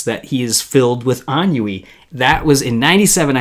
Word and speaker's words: ennui: So according to dictionaries on both Google and Bing, ennui. Yeah, so there we go. Ennui.